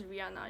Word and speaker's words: Rihanna: count Rihanna or Rihanna Rihanna it's Francis Rihanna you don't it's a silent age Rihanna comes from this